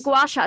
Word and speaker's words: gua sha: A gua sha.